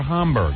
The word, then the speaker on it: Homburg: Homburg, H-O-M, right, Gary? Yeah. Why would you spell it H-O-N? Why would you mislead me? Is it Homburg or Homburg? Homburg. It's Homburg, right, with an M.